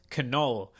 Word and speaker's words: Knull: new episode with i had to ask him how to pronounce his name because the k is not silent for once uh but anyways